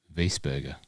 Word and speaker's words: Wiesberger: That would be Wiesberger. W-I-E. The I before the I after the E after the I would make a E sound in the German, Austrian German language. Wiesberger, not Weisberger.